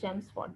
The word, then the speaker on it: Chelmsford: The pronunciation is Chelmsford.